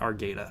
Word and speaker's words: Argueta: So Juan's creator is saying it is Argueta. Okay, yeah. Argueta, not Argueta.